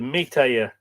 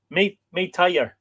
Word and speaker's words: métayer: M-E accent T-A-Y-E-R. The Métayer. Métayer. You don't finish if there's a consonant on the end of a French word, you don't pronounce it, don't you not?